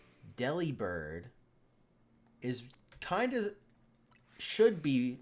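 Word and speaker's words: Delibird: I saw something and it said Deli Bird. is kind of should be not necessarily is supposed to be but it should be pronounced delivered like delivered and I was like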